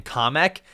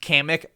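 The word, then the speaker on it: Kamek: off kamik or comic and they pronounced his name comic I hate calling him comic I always thought that his name was pronounced kamik I'll call him comic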